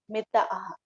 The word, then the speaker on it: Mitahara: So Mithahar, M-I-T-H, Mithahar, which we pronounce Mithahar.